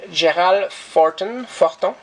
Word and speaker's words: Gérald Fortin: And both cover and art are by a guy named Gérald Fortin. And I pronounce it in French because he's a French-speaking guy from Belgium who worked on comic book in Europe for a while.